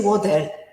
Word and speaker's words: water: Another one characteristic of the general American accent is when they pronounce the letter T in the middle of a word, it's like more D. Water, they say water. So it's D mostly.